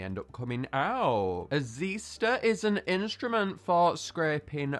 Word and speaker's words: Zyster: It's a really odd spelling pronunciation here. We have Zyster rather than Zyster. That's what you'd typically assume if you looked at the name. However, it is pronounced Zyster.